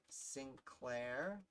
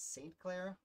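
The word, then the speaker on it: St. Clair: smith yep got it sinclair i give michael troy trouble for because he pronounced sinclair and it's saint claire i feel like it's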